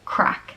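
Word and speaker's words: craic: All right, right off the bat, just that spelling, I don't think we would have pronounced it that way. I was going to say like crank. Yeah, crack is how it looks like we'd say it.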